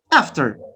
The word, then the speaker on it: after: yes is it okay after after this is in american english right in american english we say after after after we use the vowel after a from bowel but what about the british ascent after notice the changing